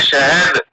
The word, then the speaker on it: शहद: मेरे पीछे बोलिए, शहद। शहद, शहद, शहद, शहद नहीं, और आप इसको ये मिलाइए इसके साथ तो होगा शहद। शहद, हाँ, अब आप बोल गए।